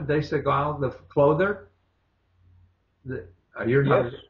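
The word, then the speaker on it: Desigual: Even now, I do a lot of shopping at De Segal. Is that how you pronounce it? De Segal, the clother?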